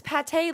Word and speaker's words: Pate: Oh, what I learned is that every there's a lot of people that spell or pronounce pate differently cuz it's pate like the food unfortunately.